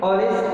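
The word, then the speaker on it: honest: देखिए x silent sound है, इसे हम ऑनर पढ़ते हैं, ऑवर पढ़ते हैं, यहाँ भी एक्स साइलेंट है, ऑनेस्ट पढ़ते हैं, यहाँ भी एक्स साइलेंट है, ऑनरेबल पढ़ते हैं।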